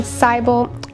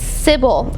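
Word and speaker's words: Sibyl: I've been Cybel. It's Sybil. I've been saying it wrong this entire time.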